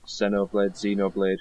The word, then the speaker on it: Xenoblade: There was some Xenoblade Chronicles, is how you pronounce it.